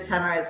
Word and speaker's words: Tamara: Tamara, fresh off of speaking at CBA, our express entry expert, and Yeah. from the nation's capital. I feel like we Another still Twitter butcher extraordinary. Tamara's name.